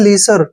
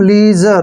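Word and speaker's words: leisure: ना इसको पढ़ेंगे हम लीजर क्या पढ़ेंगे लीजर क्लियर लीजर लीसर नहीं पढ़ना है लीजर है ये लीजर मींस होता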